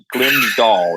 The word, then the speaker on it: Glimsdahl: I'm going to call it Nick Glimsdahl. Dahl. I learned that you're supposed to pronounce it as Dolly Parton. Glimsdahl, and that was how he taught me how to pronounce it correctly.